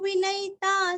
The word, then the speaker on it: विनयिता: अभी यहाँ पे ध्यान देना, जीवो जी दीर्घ, विनयिता साक्षी वी और ई हाँ य का ई, विनयिता साक्षी वी ई रस्व साक्षी काक्षी दीर्घ।